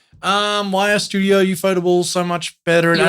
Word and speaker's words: ufotable: Anyway, Pronounced Suikoden. Oh my god, UFO table and Suikoden.